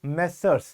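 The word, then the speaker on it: Messrs: मैसस Rajesh and company क्या पढ़ते हैं इसको मेसर्स स्पेलिंग लिखो कमेंट में चेक करते हैं तुम्हें आती नहीं आती इसको बोलते हैं मेसर्स ग नहीं करोगे मां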